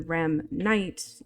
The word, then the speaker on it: Remnite: on my social network sites for it, the pronunciation using, the rem night right here with the capitals or whatever, just